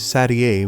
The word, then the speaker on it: Satie: Some people confuse it with 7, which is not not her number, but the correct pronunciation is Satie, which is not a number at all and sounds much fancier.